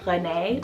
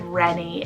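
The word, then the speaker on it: René: this is the name renee or renny spell r-e-n-e the proper french pronunciation would be renee or renee but i really love reni if you want to go for something a little bit different so like i said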